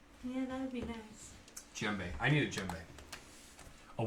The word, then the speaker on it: djembe: Djembe. I need a djembe. A what? A djembe. A jumbe? A djembe. A djembe? The D is silent.